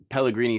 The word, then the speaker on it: Pellegrini: Pellegrini spelled like San Pellegrino, but change the O to an I at the end.